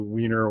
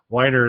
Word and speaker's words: Weiner: it is like Matthew weiner Wier Matthew Wier is how his name is pronounced guy writes madman so